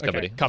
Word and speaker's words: Kabaddi: Is it pronounced Kabaddi or Kabaddi? No, it's Kabaddi. It's Kabaddi. So the most important part